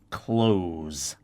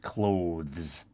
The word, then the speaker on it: clothes: most of the times will pronounce it close like close the door technically that's not correct